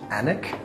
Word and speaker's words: Alnwick: bit of a detour off to anak I think it's pronounced there was a lot